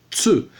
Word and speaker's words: tsu: Ta, Ti, Tsu, Te, To. Não existe Tu, é Tsu.